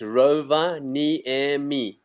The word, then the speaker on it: Rovaniemi: of all, is that Finnish is the only language in the world that pronounces every letter of the word. So it's Rovaniemi. It's exactly the word as you read it.